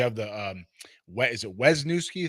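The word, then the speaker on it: Wesneski: You know, you have the um is it Wesnuski? How do you pronounce that name? Hayden Wizneski. Wisneski.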